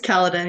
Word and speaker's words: Caledon: research on yourself, it says that you're from Caledon, Ontario. Hopefully, I pronounced that name correctly. But how did you start playing hockey and talk about growing up there? Yeah, you were close. It was Caledon.